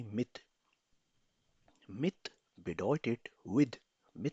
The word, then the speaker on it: mit: तो एक प्रेपोजिशन है myth, pronounce with me myth.